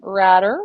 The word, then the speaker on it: Ratter: We're going to move on to Henry Ratter, rhymes with ladder.